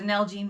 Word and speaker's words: Nalgene: them spell it because when you told me the first time it's like an algae bottle why do you want an algae bottle n-a-l-g-e-n-e nalgene nalgene yes and they're really